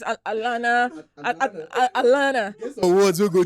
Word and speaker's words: Alana: How is it pronounced? Alana. I think they say it's Alana.